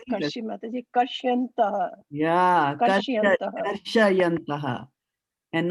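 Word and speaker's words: karṣayantaḥ: Shayanta and Shyanta are two different words, right? You have to use your eyes and put your eyes on what Prabhupada has written here. If he wanted you to pronounce as Shya, then he would not have put the A over here.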